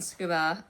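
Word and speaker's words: Tsukuba: I went to a store again in Scuba. Um, that's how the the locals pronounced it.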